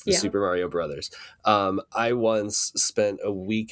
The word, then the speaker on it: Super Mario Bros.: Kids in my life now pronounce it Super Mario Bros. And it really irritates me because it's obviously Super Mario Brothers. Like Bros is a shortened form of the word brothers.